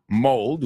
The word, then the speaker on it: mold: is blood good foodo and mold is not pronounced like could mold mold excuse me wherefore